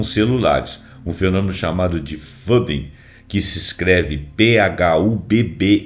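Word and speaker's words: phubbing: Um fenômeno chamado de fubing, que se escreve phu bb i n g. Mas eu eu procurei aqui no Google como é que pronuncia esse troço e a resposta foi aproximadamente fubing por aí, que significa ignorar alguém em prol do smartphone.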